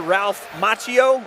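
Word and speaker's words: Ralph Macchio: I I said his name wrong earlier. Ralph Machio.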